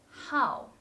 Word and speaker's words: 好: But do you know another pronunciation of this word? Yes, it is 好, as in 爱好, hobby.